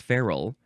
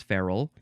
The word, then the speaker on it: ferule: changes so much feral it looks like feru but it's not it's feral and then it becomes